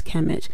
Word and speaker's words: Kemet: and when the Greeks went into Egypt they pronounced Egypt as sounding like Egypt but that area of Egypt is known as kamet so that's that's why we have different names